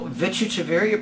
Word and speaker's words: Vichitravirya: So, Manjesh, you've asked, so I'm going to spell it for you. Vichitravirya.